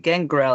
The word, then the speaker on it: Gangrel: I am going into the gangrell I think is how it's pronounced G Okay g n